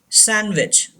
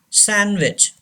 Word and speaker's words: sandwich: Sandwich. Sandwich. D is silent.